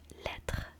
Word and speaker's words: lettre: So lettre means letter. It is basically the same word as in English, but you switch to letters and the pronunciation changes a little bit.